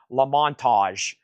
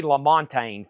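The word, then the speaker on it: LaMontagne: Y'all don't want to know how I used to say his name. I think I was to say Ray Lamontage. It's Ray Lamontine for $33.99.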